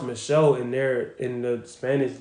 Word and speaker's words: Michel: lot of money his name is is like Michelle bro it's pronounced Michelle in their in the Spanish language or some look it's not Michael I thought it was Michael yeah it's pronounced